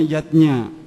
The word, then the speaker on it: yajna: Yatnya tulisannya yajna ayah bunda, tapi membacanya yatnya.